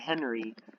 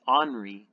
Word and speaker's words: Henri: now we have henry i've been pronouncing it henry but i found out that you pronounce it as anri and honoree is now